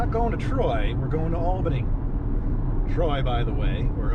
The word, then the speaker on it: Albany: Hey, Barack, before we land, it's pronounced Albany.